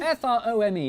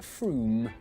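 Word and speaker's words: Frome: on your train from wrong it's not from f-r-o-m-e it should be blitheringly obvious it's pronounced froome but if you did say from don't worry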